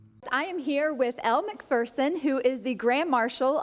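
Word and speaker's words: Macpherson: Well, I'm going to start with, you know, Americans have been mispronouncing your name, and folks might have just heard me say McPherson. That is the correct pronunciation. Well, it's a little bit like you say tomatoes and we say tomatoes. You say McPherson, I say McPherson.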